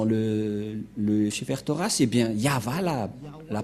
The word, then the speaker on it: Yahvah: Car dans le Sefer Torah, c'est bien Yahva la prononciation. Et on va prendre en photo. Car certains aussi disent que c'est Yahweh, mais pas Yahva.